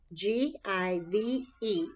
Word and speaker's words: give: So the very first one is the sight word, G-I-V-E. This E is silent, okay? So give, give, give.